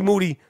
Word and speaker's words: Moody: I was texting G Moody last name rhymes with Duty the only man who's